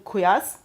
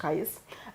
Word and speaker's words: Qais: For example, we know in Medina, Zayd bin Thabit, in Mecca, Abdullah bin Saib, in Basra, Amir ibn Abdul Quyas. Sorry for the pronunciation. Qais.